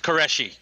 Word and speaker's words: Qureshi: It's Qureshi.